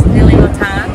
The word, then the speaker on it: Nili Lotan: The denim is Nili Lotan. Oh, I love Nili Lotan. Is that how you say it? Yes, Nili Lotan.